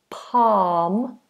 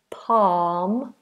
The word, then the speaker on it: palm: walk walk no l palm palm palm of my hand no l um I do have